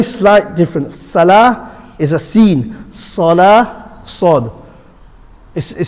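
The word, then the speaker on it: س: scene solar sword is sword and the scene are pronounced from the same place the same place where the sword is pronounced seen they have the same mahraj same point of articulation the way the scene and the sword is pronounced is exactly the same the only difference is sword is full mouth and the scene is empty mouth sword and seen are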